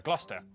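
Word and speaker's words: Gloucester: a couple of Basics sesta is pronounced stir Lester Wester gluster w at the start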